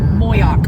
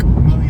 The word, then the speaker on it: Moyock: We were Moyock. Moyock. Yeah, Moyock.